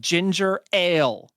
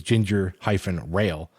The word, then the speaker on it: ginger ale: Or if you were to say it like they're trying to describe it here, which is ginger-rail, you'd have to say, can you grab me some ginger rail?